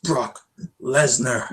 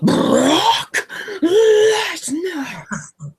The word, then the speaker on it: Lesnar: Dean Ambrose versus Brock Lesnar. No. You're saying it wrong. Brock Lesnar.